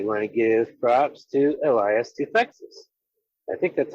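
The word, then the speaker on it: Elias Toufexis: I want to give props to Elias Tufexis. I think that's how his name is pronounced.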